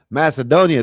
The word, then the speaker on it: Macedonia: Macedonia.